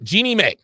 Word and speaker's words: Jeannie Mai: to talk about tonight is how do you pronounce her name her name is jeannie jeannie mae jeannie mae is she married to young jeez